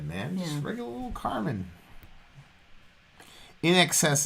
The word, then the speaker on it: INXS: just regular little carmen in excess is how you pronounce in excess i was